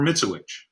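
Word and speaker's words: Mitzewich: or mispronouncing names because my name is mitsuwich and growing up it was pronounced a thousand different ways none of which were mitsubish so i can relate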